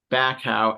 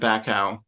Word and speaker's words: Bacow: And so this quote is from the former president, Larry Bacow. And forgive me if I pronounced his surname wrong.